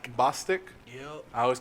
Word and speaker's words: Bostic: So Summer, I believe her last name is pronounced Bostic. Yep. I always call her Bostick because I like bow sticks.